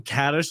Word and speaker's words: Kaddish: Danny, I love that Danny's- you say his name Kaddish, like he's a radish.